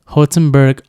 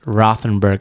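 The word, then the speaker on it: Rothenburg: it's blowing up social media but it's it's pronounced hozenberg um yeah I mean or if you're American it's Rothenberg after Tauber yeah uh but it's kind of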